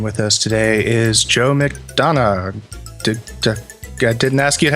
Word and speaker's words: McDonagh: i am wes wilson i am spencer williams and with us today is joe mcdonough i didn't ask you to have pronounced your name before the show how's it